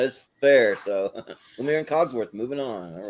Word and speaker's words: Cogsworth: But yeah, Lumiere and Cosworth, or Cosworth, is that how you say his name? Cogsworth, yeah. Cogsworth.